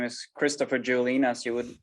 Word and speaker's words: Juhlin: this show uh so my name is christopher juline as you would pronounce it uh i'm an md meaning that